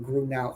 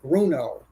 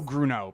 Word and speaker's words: Grunow: it's he keeps saying grun now it's gruno that's it rhymes with Bruno oh that's that's a good way to remember it Bruno gruno perfect well yes Scott